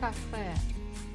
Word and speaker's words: кафе: So the word cafe, the final letter is ye, but we pronounce it very strong, like cafe. Сходи в кафе.